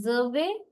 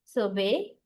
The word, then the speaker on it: survey: The noun set, always we stress the first syllable. And verb set, we always stress the second syllable.